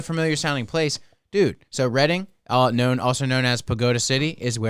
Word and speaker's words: Reading: could come going to Reading Pennsylvania tomorrow why buying a kiln from another is that spelled like reading yes oh damn I learned something today I really did it's